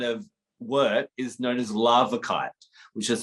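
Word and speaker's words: larvikite: um that kind of work is known as lava kite which is spelled l-a-r-v-i-k-i-t-e sometimes also known as um norwegian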